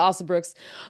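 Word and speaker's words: Alsobrooks: got black lady Senators Angela Angela I I butchered last name thank youel Angela osel Brooks um became the first black senator in Maryland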